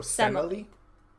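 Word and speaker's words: Semele: the Ian dress so simile okay Emily with an S at the front of it so Zeus and simile and now DJ do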